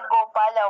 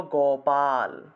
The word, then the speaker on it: গোপাল: উনার নাম হলো গোপাল তাহলে গ উচ্চারণ করব গ আমরা তো গোপাল বলে ফেলি আমরা তো গ এর রসুকার লাগিয়ে দেই গ এর রসুকার লাগালে হবে না গোপাল বললে হবে না উচ্চারণ করতে হবে গোপাল বা গোপাল সংস্কৃতে উচ্চারণ করলে গোপাল আর বাংলায় তো আমরা